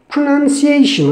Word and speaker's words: pronunciation: look at the pronunciation many people say pronunciation pronoun is something different i you we it's a pronoun but it's not a pronoun not pronunciation pronunciation okay very short and squeeze the word pronunciation okay the other important